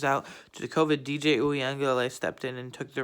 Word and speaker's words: Uiagalelei: But they still had Amari Rodgers, Travis Etienne, and DJ Uiagalelei. I finally knew how to pronounce his name. DJ Uiagalelei.